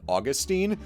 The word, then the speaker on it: Augustine: thank you for watching I've got some beef with whom ever set the pronunciation of Augustine as Augustine rather than Austine the Latin was fine and this way makes Augustine too close to ausus I'll be responsible and